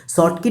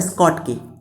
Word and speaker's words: Schottky: शॉर्ट की defect और Frenkel defect मैं बहुत ईजी तरीके से समझाऊंगा। दो शॉर्ट की, उससे इसका प्रोनाउंसिएशन होता है स्कॉट की।